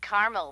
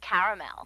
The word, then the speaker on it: caramel: Actually, you said caramel when it's pronounced caramel.